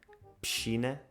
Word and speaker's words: piscina: E a palavra piscina que eu disse, eu digo o SC, SI, pronuncio como se fosse um CH, piscina, mas tu pronuncias o SC distintamente.